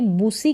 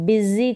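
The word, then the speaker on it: busy: इसको हम क्या पढ़ेंगे बुसी करके नहीं पढ़ेंगे बिजी करके पढ़ेंगे बिजी एस का उच्चारण ज करके हो रहा है बिजी बिजी का मतलब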